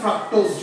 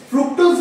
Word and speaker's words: ফ্রুক্টোজ: আর সুক্রোজের ক্ষেত্রে কি, একটা গ্লুকোজের সঙ্গে একটা ফ্রাক্টোজ জুড়ে, তাই তো? হ্যাঁ। ফ্রুক্টোজ বা ফ্রাক্টোজ দুটোই ঠিক, ঠিক আছে, উচ্চারণ দুটোই ঠিক।